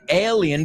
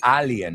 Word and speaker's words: alien: So, an alien, vamos a pronunciar esa juntos. No es alien en inglés, es ale, como la cerveza ale.